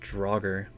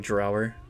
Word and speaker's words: draugr: there oh oh so i think it's pronounced draugr i looked it up instead of like drower and draugr and jocker